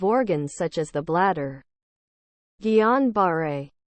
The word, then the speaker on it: Guillain-Barré: Guillain-Barré, pronounced Guillain-Barré, syndrome is an example of a demyelinating disease of the peripheral nervous system.